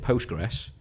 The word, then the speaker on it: Postgres: for a loop because everybody calls it Postgres but it's spelt PostgreSQL know how should we